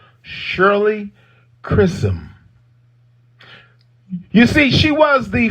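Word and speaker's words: Chisholm: to share with you black history yeah shirley chrism i'm gonna say her name again you got to know her shirley chrism c h i s h o l m shirley chrism you see she was the first black woman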